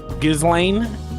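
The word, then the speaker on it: Ghislaine: Not Gizlane. How the do I actually pronounce this? Gizlane. like Giz like G like Guz Lane Maxwell but just call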